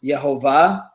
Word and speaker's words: Yehovah: And then another form of this is the verb that we get the noun Yod He Vav He, which we pronounce Yehovah.